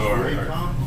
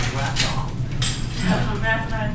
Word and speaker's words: Wacom: So it's pronounced Wacom. All this time I've been pronouncing it Wacom.